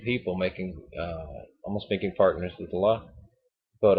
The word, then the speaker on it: Allah: almost making partners with Allah. But Allah, it's funny. People say Allah. It's Allah. You know, I still can't pronounce it right.